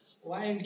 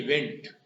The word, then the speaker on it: wind: वाइंड की भी दो प्रोनाउंसिएशंस है, तो प्रोनाउंसिएशन पर इसका मीनिंग चेंज हो जाता है। जब इसको विंड बोलेंगे, विंड, तो ये नून बन जाता है, तो फिर हवा को कहते हैं, तूफान को कहते हैं विंड।